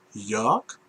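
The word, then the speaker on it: Jörg: is called york and it is spelled j uh one of the famous german umlauts uh rg and uh if you if you listen to the sound of it jerk and the character is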